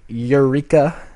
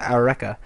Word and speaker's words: Eureka: If you guys didn't know, my name's not actually Eureka. That's not how you pronounce it. You pronounce it Aureka.